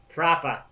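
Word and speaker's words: propah: Proper. Oh, yeah. With an A, proper. P-R-O-P-A-H. Say it like Conor I McGregor.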